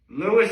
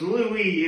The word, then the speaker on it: Lewis: By the way, I think it's pronounced Lewis, because if it was Louis, it would be Louie. Here it's Lewis. So I'm pretty sure Lewis is a proper pronunciation of that name.